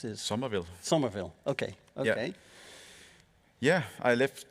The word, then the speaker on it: Somerville: Then you leave PLAYDEAD to found another company called JUMPSHIP, and you released how do I pronounce this? Somerville. Somerville.